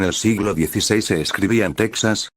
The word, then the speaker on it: Texas: a j sino que siguieron escribiendo second x de ahí la actual pronunciación de topónimos como texas y méxico así como de nombres